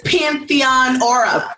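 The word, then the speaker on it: Pantheonora: at underscore Pantheon aura you're the only person that has said it right Pantheon aura a Pantheon is a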